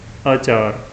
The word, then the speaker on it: अचार: पहला शब्द जो है वह बिना आ की मात्रा के मुक्ता अ लगा हुआ है और इसका उच्चारण है अचार।